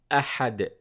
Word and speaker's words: أحد: قُلْ هُوَ اللَّهُ أَحَدْ أَحَدْ أَحَدْ أَ. Starts with A sound. Then ha. This letter comes from the middle of the throat.